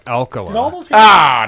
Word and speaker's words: Alcala: early He-Man on the That's what I was thinking too, Akala. friggin' mini comics. Alcala. Yeah. You can just say I was right. No. So I could. Well, technically, it's pronounced alkali.